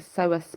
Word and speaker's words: psoas: The kidneys are often the culprit here in connection with the psoas muscles.